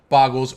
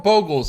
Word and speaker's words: Bogles: the glade cover spouts no actual boggles or bogels if you pronounce it the way that you should pronounce it um uh in